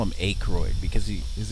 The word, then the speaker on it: Aykroyd: do you call him Aykroyd because he is this thing starts with a why yes that's how it's pronounced well when you challenge